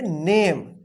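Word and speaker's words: name: है ना साइलेंट रहेगा तो इसको क्या पढ़ेंगे इसको पढ़ेंगे नेम ठीक है क्या पढ़ेंगे नेम एन ए से क्या होगा ने एम ई से क्या होगा एम ई तो साइलेंट है एम से क्या होगा म तो क्या हो गया नेम इसको ने में मत पढ़िए या ना में मत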